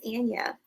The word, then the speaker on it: Ana: what is your correct name my name is Anna an it happens to me every single day